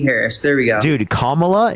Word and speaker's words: Kamala: there we go dude commala is not hard to say Comm La is it really that